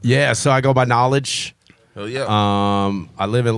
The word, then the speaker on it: KnowleDJ: It's not DJ knowledge. It's knowledge because knowledge DJ is built into the name. Correct. So tell them how you spell it so everybody can find your shit real quick. KNOWLEDJ. And it's like the DJ at the end.